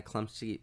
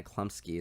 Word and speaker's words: Chlumsky: is I think Anna Chlumsky Anna Klump I can't even pronounce her name Anna Chlumsky it's like CHL um s KY I think she was